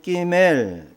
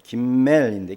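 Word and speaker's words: גימל: 자, 이렇게 3절은 끼멜 김멜인데 김멜 뭐 이렇게 경강점을 붙이면 끼멜이라고 발음할 수도 있겠죠.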